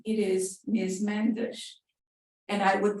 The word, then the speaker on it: Mendes: Mendes." And I would pronounce the word Mendes several times, very slowly,